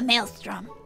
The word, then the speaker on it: Maelstrom: give you a hint what begins with a M sound and rhymes with Alstrom give up I'll tell you it's the Maelstrom a kind regular here